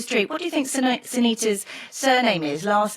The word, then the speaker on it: Sinitta: teachers, even the headmistress, couldn't say my name properly. So I was Sinatra, Sinitta, Sinsurina.